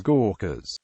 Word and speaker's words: Gurkhas: The Gurkhas, pronounced and correctly spelled as Gorkhas.